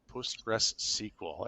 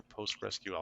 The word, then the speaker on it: PostgreSQL: and he scolded me because I said Postgress SQL and it's not pronounced that. It's either Postgress or Postgress QL.